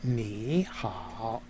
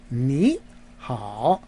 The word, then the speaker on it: 你好: So, but when the key is when you put 2 third tones together in Mandarin, in the pronunciation, the first of the 2 tones becomes a second tone, a rising tone. So you don't say 你好, you say 你好, right? The first tone is the rising tone.